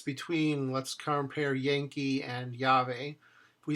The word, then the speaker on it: llave: And with double L, llave, llave. Lleno, lleno. No double L beginning a word. Llorar, llorar. Lluvia, lluvia. You can hear the difference between, let's compare Yankee and llave.